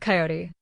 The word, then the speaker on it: Coyote: And all that, but your father was Joe Old Coyote. He pronounced it as two syllables instead of three. Coyote, not coyote.